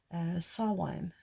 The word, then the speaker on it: Samhain: November 1st, sorry, and you have Samhain, which is how they say it in the Celtic tradition, which we now call Halloween.